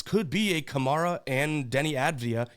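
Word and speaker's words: Deni Avdija: I think that this could be a Kamara and Denny Avdia. Yes, I could say his name correctly. Not Denny Avadabadu. even though that's more fun to say.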